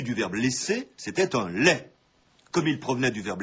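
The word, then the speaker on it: legs: actuelle et courante un leg il faut pourtant le répéter et rappeler la prononciation correcte un lait c'est ce que vous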